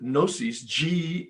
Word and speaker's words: gnosis: And so doubt is what Bill wrote, chapter 4, we agnostics, comes from the Greek word gnosis, the G is silent, Gnosis, meaning knowledge.